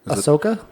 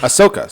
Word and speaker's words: Ahsoka: or ashoka how would you say her name ahsoka oh there's no h a h it is a h ahsoka so ahsoka is originally from the animated star